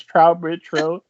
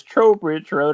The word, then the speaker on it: Trowbridge Road: Road which we were just discussing I've been mispronouncing as trout Bridge Road but it is Trowbridge Road it is available uh October 6th right yes